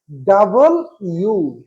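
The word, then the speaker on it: W: তারপরে সর্বশেষ ডব্লিউ, সারা জনম এটা করছি কি আমরা ডব্লিউ, আসলে এটার উচ্চারণ ডব্লিউ না, এটা উচ্চারণ হচ্ছে ডাবল ইউ ডাবল ইউ।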